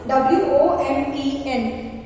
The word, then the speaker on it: women: The woman is singular, so it becomes the women. I told the pronunciation. how it is used? W-O-M-E-N.